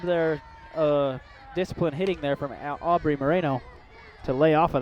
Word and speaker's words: Abri: It does go by Aubrey. It's spelled Abri, so it's Aubrey Moreno, batting .329, 85 at-bats, 28 hits.